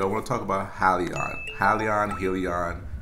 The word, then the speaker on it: Hyliion: helion it's it's pronounced halion so let's say for example if you have a friend and their name is leon and you say hi to them you say hi leon so that's how you